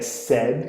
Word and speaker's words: said: Então eu tenho say, said, é said que se pronuncia, say, said.